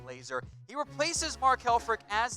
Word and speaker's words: Lazor: That is pronounced Lazor. I know it's spelled Z-O-R. It's pronounced, though, like Lazor.